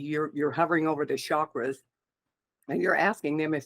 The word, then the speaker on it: chakra: you ask does this chakra chakra is the correct way to pronounce it uh need to be